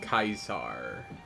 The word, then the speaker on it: Caesar: you Caesar Caesar Caesar pronounced kaisar yo what's so important